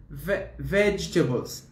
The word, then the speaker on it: vegetable: they are my favorite vegetables the vegetables vegetables not vegetable not vegetable okay because this is table it's true that's a table but this is veg vegetable vegetable what's your favorite vegetable